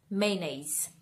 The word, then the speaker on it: mayonnaise: So, hindi daw siya mayonnaise. It's mayonnaise. Mayonnaise.